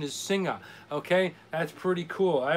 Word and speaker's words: Singha: that with us about max so the correct pronunciation is singa okay that's pretty cool i always call it sing ha ha what the hell do i know and